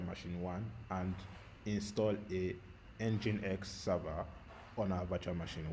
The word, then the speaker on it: nginx: what engine X means nginx is spelled nginx but engine X is an open source